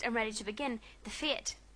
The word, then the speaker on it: fete: "Now, if we're fixed and ready to begin, the fete," well, Katy pronounced it feet, "can commence.